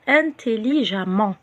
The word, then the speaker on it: intelligemment: إذا كان l'adjectif تاعنا يخلص ent au masculin, on va enlever le ent et mettre le suffixe ement اللي ينطق amant. Donc, intelligent devient intelligemment. Prudent devient prudemment. Donc, حنا نكتبو E deuxième ENT بصح ننطقوه amant.